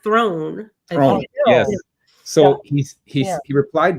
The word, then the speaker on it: Theron: jump ahead, is that in South Africa you pronounce her last name Throne, and South Africans apparently really laugh when they hear the North American pronunciation of Theron, and giving it like 2 syllables when it's really just the one.